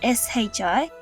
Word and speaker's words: Shippuden: When this happens, rather than breaking the syllables to say shippu uden, we join the syllables together and pronounce it more like an elongated sound, shippuden.